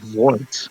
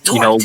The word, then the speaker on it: Dort: rhymes with Port vort no it rhymes with Port like you know a port yes and I said wart no it's Dort like the D Dort oh Dort yes yes